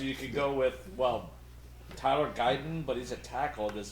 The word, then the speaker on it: Guyton: gonna take Tyler Gutton. Guyton. Like, Gutted.